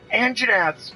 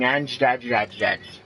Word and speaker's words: Anjanath: say their goddamn name, I called them whatever I could try and pronounce. At one point going Anjadadjadjad, because I didn't know how to pronounce it. We called them Angelina Jolies for the longest time. And once I figured out it was Anjanath, I quit saying all